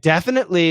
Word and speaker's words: definitely: And definitely is typically going to be a frontal stop.